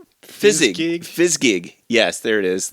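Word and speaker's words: Fizzgig: Fsgig.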